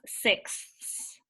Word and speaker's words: sixth: And here we're cutting into 6 parts, which gives us sixths. Now remember, guys, it's like ordinal numbers. So it's fifth, sixth, right? You have to make sure it has that TH sound at the end.